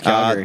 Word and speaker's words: Calgary: It's Calgary.